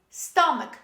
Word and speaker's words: stomach: example this is stomach stomach say with me stomach don't say stomach this is not stomach this